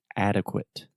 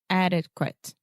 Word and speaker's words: adequate: said passionate passionate so remember the majority of adjectives in English that end in ate we will simply produce the it sound so passionate passionate delicate delicate adequate adequate adequate adequate articulate articulate there we go so you want to get that eight sound out of your mouth and it passionate perfect